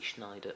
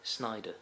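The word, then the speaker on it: Sneijder: the likes of Wesley Schneider sorry Snyder I've been told that he's supposed to pronounce it by a Dutch person then you pronounce it it's not Schneider it's Snyder just throwing that out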